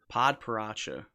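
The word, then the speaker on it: padparadscha: belgium grand prix do you know how to pronounce it yeah it's it's pod parasha padparacha so the 101.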